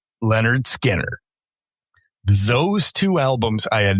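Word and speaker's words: Lynyrd Skynyrd: Bad Company's self-titled debut album and Leonard Skinnard, pronounced Leonard Skinner.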